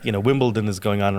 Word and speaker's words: Wimbledon: yeah like you know Wimbledon is going on right now and I can't tell you like how many people I hear every day say wimp like wimpleton it's not a big deal